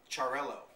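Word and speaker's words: Xarel·lo: or macabio it's m CAO and then uh charell now that one I know how to pronounce um but it's spelled x a r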